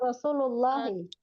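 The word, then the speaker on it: رسول الله: alif lamnya hilangkan. Jadi Rasulullah.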